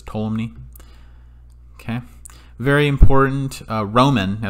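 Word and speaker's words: Ptolemy: scientist here is tolumny so you pronounce this tolumny okay very important roman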